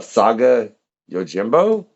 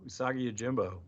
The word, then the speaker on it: Usagi Yojimbo: To bring him a Saga Yojimbo? I ain't pronouncing that right at all, am I? No, Usagi Yojimbo.